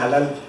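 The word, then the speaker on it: הלל: De hecho, en la etimología de la palabra alabanza, la palabra raíz que se utiliza es esta, halal, pero se pronuncia halal.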